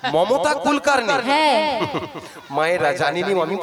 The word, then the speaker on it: মমতা কুলকার্নি: হ্যাঁ রে, না, মনটা চুলকানি নয়, ভক্তরা বলেছে। তুমি তো শুনবে, ওটা হবে মমতা কুলকানি। মমতা কুলকার্নি।